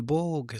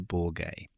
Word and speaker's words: Borge: Victor Borg. Some people pronounce it Victor Borge.